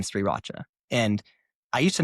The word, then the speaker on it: Sriracha: So I purposely like really pronounced the R in Sriracha. And I used to not do that but my wife was like no it's pronounced Sriracha.